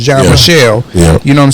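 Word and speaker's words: Jean-Michel: now nothing against bosot John Michael John Michelle that's how it's pronounced John Michelle you know what I'm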